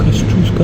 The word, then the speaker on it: Tadeusz Kościuszko: All right, this is the guy whose name we cannot pronounce. Tadeusz Kościuszko. Right, Kościuszko.